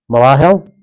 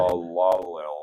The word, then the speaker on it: Mahalalel: Balaam was well, we'll move on to Malahel. Is that how you would pronounce that? Mahalalel.